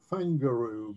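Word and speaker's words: Whangaroa: right this was uh this actually pronounced fanguru because the w is effectively an f in the maori language and um this was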